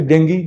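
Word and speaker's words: dengue: वो ऐसी डिजीज जैसे डेंगू जो हर साल लौट के आता है, जिसको लोग डेंगू बोलते हैं, उसका सही प्रोनाउंसिएशन डेंगी है, चिकुनगुनिया, जैपनीज एंसेफेलाइटिस।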